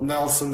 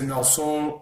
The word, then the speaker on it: Nelson: say my name correctly so nelson everybody can say unless you're in brazil so you'll say no song and that is just stupid as it's where it